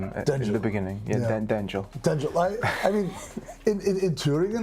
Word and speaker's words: Denjell: people would understand that it's not Daniel, it's Denjell. And that's how I got the Denjell. Yeah, I was very confused about your name in the beginning. Yeah. Denjell.